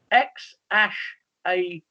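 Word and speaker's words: X Æ A-12: Which entrepreneur and his partner, Grimes, have named their baby X-A12? Which entrepreneur and his partner Grimes have named their baby X-A12? That's how you pronounce that.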